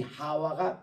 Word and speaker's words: 하와: 뜻으로 하와라 그렇게 합니다이 하와가 맞는 발음이 우리 한국말로이 하바 이게 이제 히브리말로 생명이라는 뜻인데 이거를 영어에서는 이브라고 번역합니다 그이